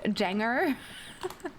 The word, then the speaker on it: Danger: I recommend Danger Rose. It's pronounced Janger.